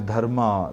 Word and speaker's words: dharma: So you see a lot of similar looking words between Sanskrit and Prakrit, but pronounced little differently. A good example is dharma, the Sanskrit word, and dhamma, the Prakrit word.